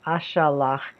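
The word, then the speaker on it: אֲשַׁלַּח: that in the Pa'al, I will send is Eshlach, that's two syllables. Eshlach, this is Ashalach, it's got three syllables.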